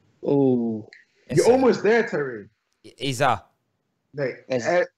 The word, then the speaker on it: Eze: Iza. No, Ez- Eze. Eze. Yeah. It's not an E. Pretend there's no E at the end.